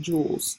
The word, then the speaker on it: joules: measured in this funny-looking word here which is pronounced joules so just like diamond or rubies joules energy